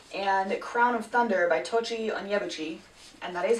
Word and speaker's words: Tochi Onyebuchi: They are Beasts Made of Night and Crown of Thunder by Tochi Onyebuchi, and that is how you pronounce his name because I looked it up so that I didn't butcher it.